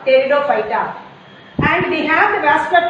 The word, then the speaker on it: Pteridophyta: P is silent here, Pteridophyta.